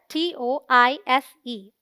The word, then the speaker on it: tortoise: TOR is the stressed syllable, rhyming with more. TOISE sounds like tuss, a short U sound. So the right pronunciation is tortoise.